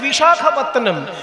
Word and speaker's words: বিশাখাপত্তনম: ইংরেজদের শেখানো নাম ভাইজ্যাগ, আসলে ভাইজ্যাগ তো নয়, কথাটা হচ্ছে বিশাখাপত্তনম। বিশাখা, বিশাখা নয়, ক্ষয়ে আকার হবে না, শুধু খ।